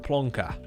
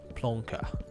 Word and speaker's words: plonker: Plonker. Yeah, it's like that. Like rhymes with Willy Wonka. Plonker.